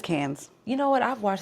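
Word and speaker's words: Cannes: It's Cans.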